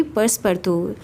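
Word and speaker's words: Passepartout: लेकिन इसकी प्रोनाउंसिएशन होगी पर्सपर्तू। तो फ्रेंच में इसको बोलेंगे पर्सपर्तू।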